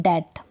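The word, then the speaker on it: debt: आपको ध्यान रखना है ज्यादातर इसको डेप्ट पर्दे नहीं डेट क्या पढेंगे डेट नेक्स्ट चलते हैं यदि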